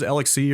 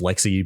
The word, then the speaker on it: LXC: I use LXC, or I think it's actually pronounced Lexi, but who knows how to pronounce anything in Linux.